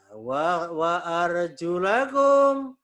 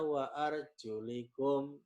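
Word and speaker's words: أرجلكم: Wa arjulakum dan kaki kalian. Nah, ini ada yang membaca wa arjulakum, ada yang membacanya wa arjulikum.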